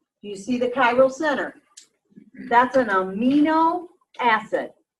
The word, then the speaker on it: chiral: I've also heard someone say, well, somebody says corral. And I'm like, I don't know. I learned chiral, so I'm sticking with it. Okay. Yeah. Like Cairo. Yeah, but it's spelled different.